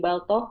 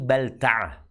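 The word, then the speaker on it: بلتعة: Rasulullah sallallahu alaihi wasallam mengutus Hatib bin Abi Balth ke Muqauukis. Penguasa Hatib bin Abi Baltaah. Bacanya Abi Balta'ah.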